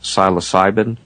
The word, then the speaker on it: psilocybin: And some of the natural substances include something like, I believe it's pronounced psilocybin.